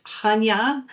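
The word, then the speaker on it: Chania: Um the first city we're visiting is Hanya. Uh it's a ch, but you just kind of pronounce the h. Ha.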